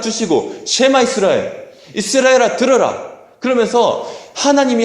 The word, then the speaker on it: 쉐마: 그래서 신명기 6장 4절에서 9절까지 이 말씀을 이스라엘 백성들은 하나님께서 주신 말씀들 쉐마라고 얘기를 해요. 같이 한번 발음해 볼까요?